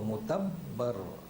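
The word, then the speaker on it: مُتَبَّر: متبر، اس کا تلفظ یاد ہو، صحیح ہو، متبر.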